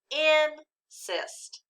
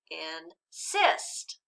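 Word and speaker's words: insist: know well not quite what happens if i move the accent to the second syllable now let's read it again with the accent on the second syllable in cyst does that sound more like a word we know it does that sounded better so words with the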